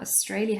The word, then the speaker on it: Australia: has been to Australia Australia has three syllables and the middle one is stressed Australia but she has not